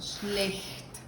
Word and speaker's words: schlecht: Schlecht, por ejemplo, aquí. Fíjense, aquí tenemos los dos, la SCH y la CH. Entonces, esto sería schlecht.